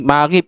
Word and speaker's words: maghrib: Maghrib itu, Pak, bentuknya adalah sama dengan masirun ya.